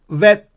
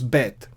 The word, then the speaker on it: bet: Like, for example, vet becomes be. So instead of van sound, it becomes ba sound, as in boy. So vet becomes bet.